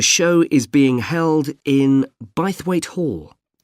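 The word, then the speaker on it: Bythwaite: Well, admission is free and the show is being held in Bithweight Hall. Sorry, how do you spell that? B Y T H W A I T E. Bweight.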